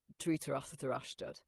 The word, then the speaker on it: Dhritarashtra: Dhritarashtra, Pandu, and Vidura, if I'm saying it right. You're saying it beautifully. And in fact, the Akashic field affirms your pronunciation is aligning with the original current of those names. Dhritarashtra, Pandu, Vidur.